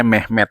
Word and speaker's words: Mehmed: Jadi dinamainya Mehmed ya. Mehmed itu ya seperti pelafalan Muhammad dalam bahasa Turki ya.